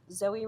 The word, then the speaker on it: Zoey: Flores reached the girls Zoey raised her hand my announced my name is pronounced Zoe even though it spelled the OE she said she didn't